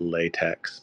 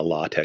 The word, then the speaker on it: LaTeX: initiated into authoring a latch file you're told that it's pronounced latch but it's spelled latex all right let let's